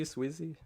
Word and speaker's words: Swizzy: And I say this, and you, how do you pronounce it? Is it Swizzy? Swizzy, yeah. Swizzy, gotcha.